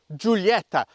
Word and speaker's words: Giulietta: is an Alfa Romeo Julieta now I am going to pronounce it the Italian way rather than the English because Julieta just sounds just doesn't sound as good it typifies Alfa Romeo's